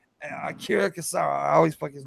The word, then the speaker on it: Akira Kurosawa: Okay, now I always get his name wrong, but it's Akira Kurosawa.